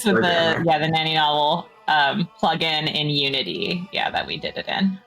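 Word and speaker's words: Naninovel: Uh, nani novel. Yes. Um yeah, that's for Terra though. She she's Yeah, it's the Yeah, the nanny novel um plugin in Unity.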